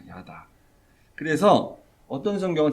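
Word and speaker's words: ידע: 이렇게 번역을 이렇게 했는데 요때 쓰는 히브리어가 알다는 다라는 단어 다라는 히브리어 발음을 하면 다라는 겁니다 야다 그래서 어떤 성경은 제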